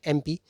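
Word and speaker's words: MP: तो एमपी में भले ही लेटर एम दिख रहा है, कॉन्सोनेंट है, लेकिन क्योंकि उच्चारण जो साउंड है वो वोवल का आ रहा है, इसीलिए पहले आपको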